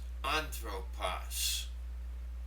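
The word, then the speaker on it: ἄνθρωπος: The second one there is pronounced anthropos. Now here we have 3 vowels, thus 3 syllables.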